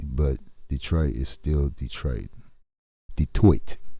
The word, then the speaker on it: Detroit: detroit is still detroit detoit is the proper way to say it detoit it's french even though it was colonized by the british it has a french name right on i appreciate